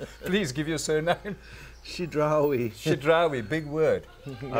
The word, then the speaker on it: Chidrawi: He'll pronounce his surname himself. He's Lebanese. Please give your surname. Chidrawi. Chidrawi, big word.